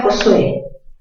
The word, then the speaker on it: Josué: ¿Por qué se tilda Josué? Mayor fuerza en qué sílaba? En la sílaba sue, aguda terminada en vocal, se tilda.